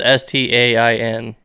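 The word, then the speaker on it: Berenstain: Bernstein Bear. It ends with Stain. Stain.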